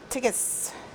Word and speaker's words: TCIS: Okay, so it's tape, chomp, cut, ink, stick, TCIS, pronounced tickus.